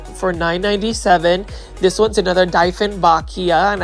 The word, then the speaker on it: Dieffenbachia: This one's another Dieffenbachia, and I think I'm saying it right now. It's Dieffenbachia. It's, German based, so yes.